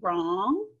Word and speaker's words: wrong: So usually you're gonna see a K-N, like the word knee. G-N you might see like the word gnat, which is one of those little pesky bugs that flies in front of you. W-R, I could see it in wrist, maybe wrong. Those are all silent letters. That first letter, the K, the G, and the R.